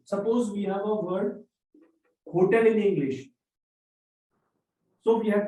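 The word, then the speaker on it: hôtel: hotels we write it we write letter H but we never pronounce it okay we skip the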